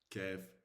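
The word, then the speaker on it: كاف: So you bring this and you connect it here. Kaf. That's how you pronounce, you generate the sound of kaf.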